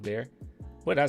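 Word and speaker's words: Bexar: It's pronounced Bear. What did I say? Behar?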